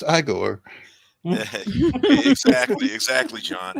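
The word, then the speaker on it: Igor: hum it's PR it's pronounced aore exactly exactly John how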